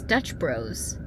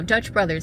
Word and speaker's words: Dutch Bros: But is it just Dutch Bros? Jay just pointed that out to me the other day like it's Dutch Bros. So, my mind's kind of blown. Sorry if I've been saying it wrong this entire time. Dutch Bros. I I don't know. Dutch Brothers. I don't know where I got Dutch Brothers from.